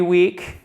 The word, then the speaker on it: week: Every week. Donc, le E ne se prononce pas. Week. Comme souvent, quand on a un double E, c'est un ilon.